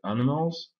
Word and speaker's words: animals: Un très bon exemple, c'est donc le mot animal, en anglais animals. Le i se prononce e, le a se prononce e aussi.